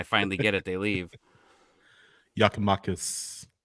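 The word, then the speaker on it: Giakoumakis: Yakimakis. I got that one right. That's how it's pronounced.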